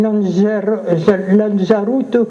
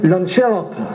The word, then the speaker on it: Lanzarote: Lancelot, ils ne savent pas dire Lancelot, même maintenant, ils diront Lanzarote, ils l'ont fait, la lance brisée, ce qui n'a rien à voir avec cette affaire.